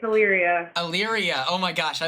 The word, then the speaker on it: Illyria: It's Illyria.